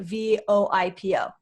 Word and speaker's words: VoIPo: to focus on on is it is it voipo or is it v-o-i-p-o uh it is pronounced voipo spell v-o-i-p-o so both okay cool